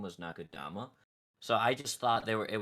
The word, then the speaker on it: Nakudama: Nakudama.